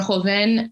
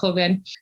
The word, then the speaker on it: Joven: And so the exhibition Tierra Blanca Joven, or Joven, sometimes my Portuguese comes out, it's pronounced Joven, which opened in April at the Brooklyn Museum.